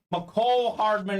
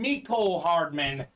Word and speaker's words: Mecole Hardman: One of my favorite pronunciations, Bob, is McCole Hardman on the Chiefs. You turn on ESPN, they call him Mecole Hardman, but it is definitely McCole Hardman.